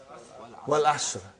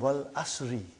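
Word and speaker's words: والعصر: How do you say Suratul Asr? What is the first ayah? Wal Asr. Have you ever noted down what is written there? It's called Wal Asri.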